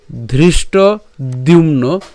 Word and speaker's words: ধৃষ্টদ্যুম্ন: হ্যাঁ, কাশ ইয়শ্চ পরমেশ্বাস শিখণ্ডী চ মহারথ ধৃষ্টদ্যুম্ন। কেন দ্যুম্ন? জফলা আছে আর ম পর্যন্ত উচ্চারণ করেছি, তাহলে দ্যুম্ন বিরাটশ্চ সাত্যকিশ্চা পরাজিত।